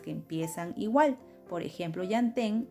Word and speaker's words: llantén: Por ejemplo, llantén empieza con yan, la primera sílaba, como llanta.